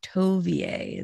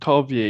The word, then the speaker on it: Tovieye: to have you first clarify exactly how to pronounce your name tovia is that i i think you've got it